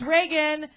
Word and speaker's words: Regan: Hey, it's Reagan. It's spelled like Regan because my mom named me after the president, but she spelled it wrong because she's a Republican.